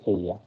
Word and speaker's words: ella: So I was telling you all that how this double L is pronounced as ja. So that is why this she in Spanish is pronounced as ella. Okay. So two new pronunciations are here for the letter E, which is pronounced as A, and double L, which is pronounced as Y. So it is aya.